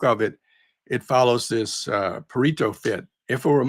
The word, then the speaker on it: Pareto: By the way, I think the pronunciation is Yeah. Pareto because it's Italian.